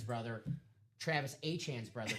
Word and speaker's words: Etienne: They have I was gonna say Etienne's brother, Travis Achan's brother, Trevor. Achan. Yes. Not Etienne. Yes, it's yes, Achan. yes. That's how you say it, like the Von Achan.